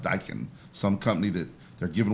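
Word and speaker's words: Daikin: The name is D A Keen N. He says it's pronounced Dykan.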